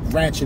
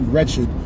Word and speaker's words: wretched: lot of treacherous wretched that's the real word it's not ratchet it's actually wretched people started saying ratchet because they have an inability to pronounce the term wretched w-r-e-t-c-h-e-d but anyway it's